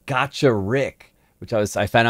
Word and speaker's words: Gacharic Spin: higher than most bg i once pronounced this band kacharik spin but i believe it's actually called gotcha rick which i was i